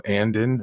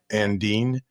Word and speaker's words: Andean: It's spelled like A-N-D-E-A-N. So Andin or Andine.